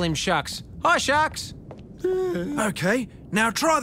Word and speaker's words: Shaaark: a shark named jaah pronounced shark determined to inspire his